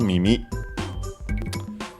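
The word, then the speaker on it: 耳: Uh first and foremost we have uh mimi uh which means ear of course also ears plural uh accent on the last syllable mimi uh by extension also uh hearing uh ear for music and so on.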